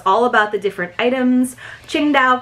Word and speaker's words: Qingdao: gonna tell us all about the different items Qingdao pronounced Qingdao Mandarin is a port city tucked in China's